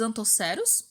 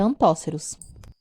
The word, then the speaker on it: antóceros: grupos as hepáticas os antoceros pessoal pronúncia correta antóceros e os musgo os